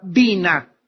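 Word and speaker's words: בינה: La palabra inteligencia en el hebreo es la palabra bina. B grande, Y, N, A, H. Bina. Otras veces simplemente se pronuncia en el hebreo bin, B-Y-N, inteligencia.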